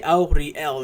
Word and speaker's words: Auriel: opposite in fact it's auriel primary aspect of anu also known as akatosh but details i say auri l in three different syllables because that's a dragon name it's a dragon shout every dragon name is